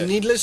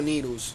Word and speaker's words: Needles: Is needless or needles? That's why I want to know. Because I've heard people say it both ways. It's spelled needles. I'm gonna pronounce it needles.